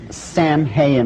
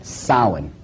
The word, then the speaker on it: Samhain: Now, when you look at the name, it looks as if it's saying Samhain or something like that. No. This is properly pronounced in the ancient Gaelic as Samhain.